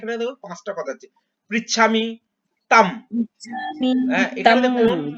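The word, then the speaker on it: ত্বাং: পৃচ্ছামি তাম, এখানে দেখুন তাং যেটা আছে, অনুস্বর আছে, যেটা লাস্টে অনুস্বর থাকা মানে হচ্ছে আমরা উচ্চারণ করি, ময়ের উচ্চারণ করি। হ্যাঁ, পৃচ্ছামি তাং না বলে তাম বলবো আমরা।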